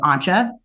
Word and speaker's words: Anja: You'll notice I said her name both Anya and Anja. I did that on purpose because the actual German pronunciation of her name is Anja, but I actually named her after an American friend of mine, who I guess is of German lineage, who spells it the same way, but she goes by Anya.